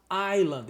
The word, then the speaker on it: island: A palavra ilha você fala island. Esse s some.